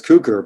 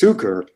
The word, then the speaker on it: Cuker: So my name, Cuker, it's most people pronounce it as Cuker, but it's Cuker. Oh, yeah? Which you probably recognize as a version for sugar, right?